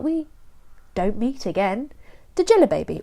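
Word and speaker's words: Djelibeybi: don't meet again the jela baby or to pronounce it how I think Pratchett wanted us to pronounce it Jenny baby oh my voice is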